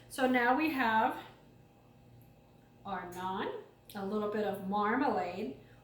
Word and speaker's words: naan: are going to put that down here not non is spelled n a a n and it is